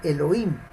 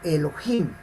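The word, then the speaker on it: אלוהים: puede traducir como rota recordemos que algunos dicen el hoy sino elohim y no es el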